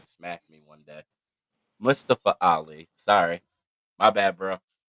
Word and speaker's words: Mustafa: little card here uh we had Mustafa Ali or Mustafa that's how he wants to pronounce he's going to smack me one day Musta for Ali sorry my bad